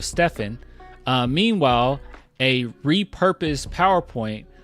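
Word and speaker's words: Stephen: one Nike executive reportedly mispronounced Curry's name calling him Stefon instead of Stefan uh meanwhile a repurposed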